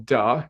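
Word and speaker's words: 德: Because when you do that, you cultivate what they call Da, is spelled D-E in English, which is translated as moral charisma or virtuous charismatic power.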